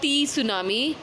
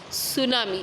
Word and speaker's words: tsunami: Okay, children, once again I will repeat, the word is not T tsunami, it is tsunami. Here T is silent, and it is a Japanese word which means harbor wave.